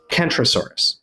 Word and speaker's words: Centrosaurus: if you surmised that the Ceratopsian centrosaurus should properly, if we're doing Greek pronunciations, be pronounced Kentrosaurus, which would mean that Kentrosaurus and Kentrosaurus would be pronounced the same way.